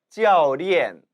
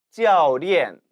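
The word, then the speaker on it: 教练: 教练教练 기억하십니까? 이 가르칠 교자는 教 일성으로도 그리고 지금처럼 教 사성으로도 발음되는 포인즈, 뚜어인즈였죠. 즉 한 글자에 2개 이상의 발음 성조 의미를 지니는 단어라고 했습니다.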